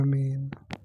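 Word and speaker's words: من: Faqala, maka musannif berkata, wahiyya ay huruful khabdi, dan dia huruf-huruf khafat itu min, pertama min. Bagaimana cara membacanya? Bikasril mimi, dengan kasrah mim.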